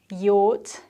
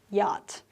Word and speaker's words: yacht: would you say that it's a yot in british english or yacht in american english yot yacht choose the one you